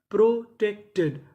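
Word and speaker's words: protected: तो meaning money प्रोटेक्टेड प्रोटेक्टेड।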